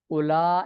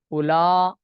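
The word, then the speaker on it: أولاء: किया जाता है और इसको पढ़ने के दो तरीके हैं उला उला जैसे लिखते हैं ना दर्जा उला उला लिखे और व को साइलेंट कर दे उला यह कसर है कसर का यह माना है उला और मदन का माना है जिसे हमजा ममूद अली ममदा लिखा जाता है उला व दोनों सरतो में साइलेंट है मदन व कसर का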